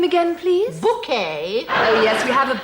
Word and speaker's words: Bucket: events of the series she's apparently decided that it's actually pronounced bouquet it's very kind of you to invite us Mrs bucket okay the characters catchphrase